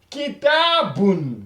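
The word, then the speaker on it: كِتَابٌ: Et dû au fait qu'il y a tanwin, on ajoute plus le N.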